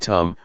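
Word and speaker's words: ธรรม: The damma in Thai pronounced in the same way as the word tum which means to do refers to nature that exists by itself.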